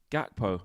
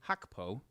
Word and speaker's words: Gakpo: But I did see someone in the comments saying it's actually not a soft G, it's a hard G. So I don't know. But so if it's hard, it's like Gakpo.